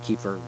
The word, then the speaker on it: kefir: But I use one, it's called, some people pronounce it differently, Kefir, Kefir, and these are great.